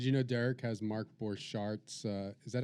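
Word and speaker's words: Borchardt: It's off the Did you know Derek has Mark Borchart's uh Is that how you say it? Borchard.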